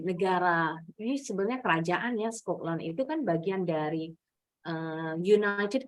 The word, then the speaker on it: Scotland: Yes, Scotland bacanya. Scotland. Scotland. Good. Kalau berdiri sendiri, yang belakang nih bacanya memang betul land. Tapi kalau Scotland, nah Scotland yang betul.